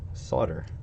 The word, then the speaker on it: solder: here it's spelled sol de AR but it's pronounced Sadr trust me I don't have an accent I'm